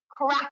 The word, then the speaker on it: craic: let's have a little crack, as the Irish say. You'll have to learn that word now when you come to Ireland. Now, it's spelled CRAIC, which means like banter and good fun.